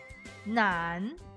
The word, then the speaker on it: 难: 难，困难，难题。有 3 点水的我们读作滩，没有了 3 点水我们读作难。